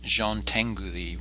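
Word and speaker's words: Jean Tinguely: work within these limitations the next artist is pronounced Jean Tengu thee we have some interesting European pronunciations this week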